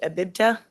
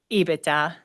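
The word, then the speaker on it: EBITDA: Abiba. That's not how you say it. IBITA.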